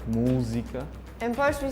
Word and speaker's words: música: So in Portuguese from Portugal, when we say music, we say música. So the pronunciation is like música.